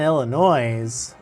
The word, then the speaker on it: Illinois: but it was kind of funny then Illinois's of course if you call it illinois' you're